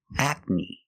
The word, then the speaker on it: acne: next word is acne the first syllable is a like black cat a a and the second syllable is KN the long e like green beans acne acne acne is a condition